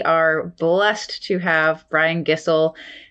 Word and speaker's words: Gisel: blessed to have brian gissell an easy way to remember how to pronounce his last name he said rhymes with whistle we love that in